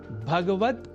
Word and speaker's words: भगवत: ध्यान से पुनः सुनिए श्रीमद्भगवत गीता पर श्रीमद्भगवत गीता इसमें भगवत पद में गकार से संयुक्त अ स्वर का हम लोप कर देते हैं और कह बैठते हैं भगवत जबकि शुद्ध उच्चारण भगवत ही है।